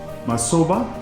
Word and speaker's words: Masoba: This is Masoba. Soba. Is it pronounced right?